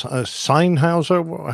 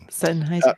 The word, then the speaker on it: Sennheiser: That looks like a nice Sennheiser. How do you pronounce that? Sennheiser.